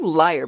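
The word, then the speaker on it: lyre: current biology the superb liar bird that's spelled l-y-r-e is famous for its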